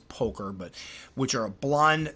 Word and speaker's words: pulcher: Again, and I would say an alternate to this would be the Salmopoeus pulcher, or poulcher, I've heard it pronounced both, I believe it's poker, but which are a